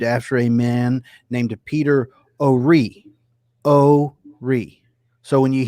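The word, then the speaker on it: Horry: talk like that and say we're in ore county but it actually is ore county even though it is spelled h-o-r-r-y um interesting so let's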